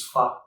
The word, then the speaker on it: pho: It's been raining all night, so we're going to be making Vietnamese pho, pho. Pho, pho, pho. Anyways, whichever way you pronounce it, we're making Vietnamese noodle soup today.